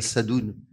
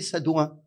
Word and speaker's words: Sadoun: Alors moi, je m'appelle Sadoun. Mais quand on est arrivé, on disait Sadouin. Parce que les gens ne savaient pas prononcer Sadoun.